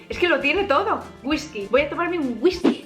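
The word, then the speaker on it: güisqui: Es una adaptación de la palabra inglesa whisky, pero con la pronunciación y con la grafía española.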